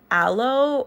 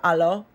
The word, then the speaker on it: Alo: So I used a lot of those.